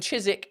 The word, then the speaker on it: Chiswick: Um Catherine says the W in Chiswick Greenwich gets dropped simply for ease of pronunciation and speech.